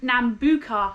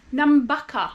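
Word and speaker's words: Nambucca: sec to figure out the pronunciation so I pronounce it as Nuka heads but I I found out from some Australians that is namaka this morning we got up went for a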